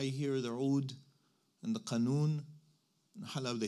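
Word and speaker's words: قانون: I don't know about you, but I hear the Oud and the Qanun. Halab, they say Anun. They don't pronounce the Qaf. They say Anun.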